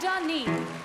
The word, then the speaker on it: Denis: This place we all love called Saint Denis.